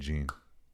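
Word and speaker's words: Gein: Charlie Hunan deserves an Emmy for his portrayal of Ed Gene. G. Is it Gene?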